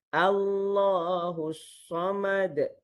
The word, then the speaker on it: Allahus Samad: Jadi dibaca buka dulu Allahus Samad. Nampak tak? Allahus Samad. Baru betul.